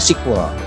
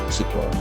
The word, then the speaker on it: SQL: effect.exe dibacanya si kolya SQL nulisnya SQL nih structure query language a penyebabnya bacanya sequel sequel depannya kita lanjut lagi